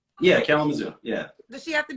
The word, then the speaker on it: Kalamazoo: So Mike in Michigan, does the woman gotta be in how you say it, Kalamazoo? Yeah, Kalamazoo.